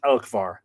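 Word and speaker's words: Elcmar: the same deity this name elmar apparently properly pronounced in Middle Irish elkar because there would be a Shu on the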